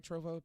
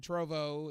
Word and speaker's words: Trovo: Trovo?